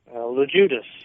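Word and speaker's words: Loguidice: Okay, so you and Bill, and pronounce Bill's last name for me if you would. LeJudas.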